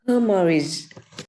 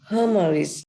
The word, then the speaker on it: hemorrhage: So when you say AG, you have to pronounce like a J.